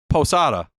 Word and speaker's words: Posada: Like It's Posada. more Isn't like, there like it's more like P-U-H. It's Jorge Posada.